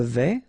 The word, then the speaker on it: vais: Je vais, final S not pronounced here, and remember when you combine this A and E together, you get the sound E, so really open.